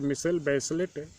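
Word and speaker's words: Michelle Bachelet: That girl मिशेल बैचलेट, pronounce मिशेल बैचलेट, was elected president of chilli in January 2000।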